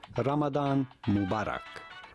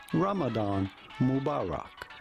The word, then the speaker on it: Ramadan Mubarak: In Arabic this would be pronounced something like Ramadan Mubarak. Ramadan Mubarak. Okay. But in English it is generally said Ramadan Mubarak.